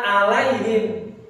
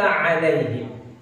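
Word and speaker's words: عليهم: Jadi baca an'amta ini sudah benar baca an'amta, tapi giliran baca alaihim ini dibacanya seperti hamzah. An'amta alaihim, mestinya an'amta alaihim.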